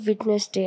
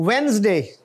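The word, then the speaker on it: Wednesday: word ऊंचा बोलिए सर वेनसडे इटस नॉट विटनेस डे आई थ वेनसडे यस सर वेनसडे और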